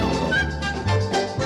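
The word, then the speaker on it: en garde: is no I'm always on guard not like sword fighting like on guard not like on guard e even though it's spelled e n e n that bothers me that's a French thing this is Jerry the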